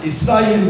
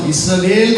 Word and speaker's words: இஸ்ராயேல்: சொந்த போதனை அல்ல புரியுதுங்களா இஸ்ராயேல் மக்கள் அது கரெக்டா அந்த உச்சரிப்பு இஸ்ரவேல் கிடையாது வேலே கிடையாது தேவையில்லாம உள்ள திரிச்சிட்டாங்க வேலுக்கும்